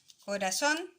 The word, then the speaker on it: corazón: Está la palabra corazón y la palabra acusar. ¿Ya? Estas dos palabras son agudas. ¿Por qué? Porque se marcan en la última sílaba, ¿ya?